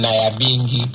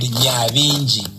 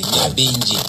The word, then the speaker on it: Nyabingi: Nyabingi. Yes. You know? But because our brothers and sisters from the diaspora, English say Naya. When there's N and Y, you don't pronounce it, you pronounce Ni.